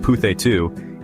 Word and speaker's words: Puthettu: just a dish it's a cultural icon petu pronounced petu is a steamed rice cake that's super popular